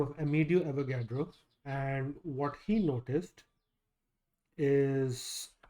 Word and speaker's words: Avogadro: So there was an Italian scientist by the name of Aidio Avagadro.